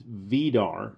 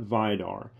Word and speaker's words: Vidar: to my attention that the proper pronunciation is vedar not vidar i didn't know this